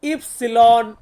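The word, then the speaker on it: ipsilon: আমরা বলবো এক্স ওয়াই ওয়াই কে আমরা ইতালিয়ান ভাষাতে বলবো ইফসিলন ইফসিলন মানে হচ্ছে ওয়াই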